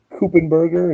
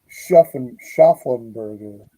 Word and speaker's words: Schaffenberger: Kupenberger, is that how you say it? Schaffenberger. Are you talking about Kurt Schaffenberger?